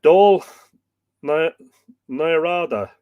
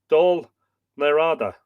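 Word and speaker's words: Dál nAraide: do yeah do NADA so it's D A WL this is the fanatic pronunciation guy d a WL do d a father l n n a i a ah D ah n a r hyphen ah hyphen d a do NADA so I I said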